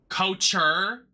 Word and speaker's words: couture: Couture? It's couture, darling. Let's not work at a store and mispronounce what we're fucking selling.